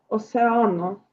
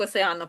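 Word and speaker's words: océano: Осеано. Осеано. Бачите на е наголос. Осеано. В нас океан. Тому хочеться як осеано прочитати, бо ми так звикли. Але ні. Осеано.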